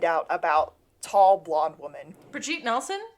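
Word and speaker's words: Brigitte Nielsen: Brigitte Nelson? Who is not Bridget Nelson.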